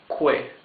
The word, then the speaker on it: que: Que means what. Here it says quién. Quién. Quién means who. You can see that the U is muted. You don't read this que.